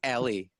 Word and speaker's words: Eli: Hi, this is Eli, and he goes, Ari didn't tell you how to pronounce my name. It's Ellie.